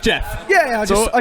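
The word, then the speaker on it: Jefe: but it's it's pronounced Jeff yeah yeah I just I just spelled it wrong yeah the E is silent L Jeff thanks for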